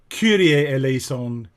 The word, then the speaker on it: Kyrie eleison: introducing it like that but just remember that pronunciation curier el aison crista elles on curiel so right from the